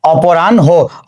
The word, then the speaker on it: অপরাহ্ন: যেহেতু এই হয়ে ন এটা একটা যুক্ত বর্ণ এবং এর সঙ্গে কোনো কার চিহ্ন যুক্ত নেই, তাহলে উচ্চারণটা হয়ে যাবে কি অপরাহ্ন, অর্থাৎ এই হয়ের সাথে একটা ওকার যুক্ত হয়ে যাবে।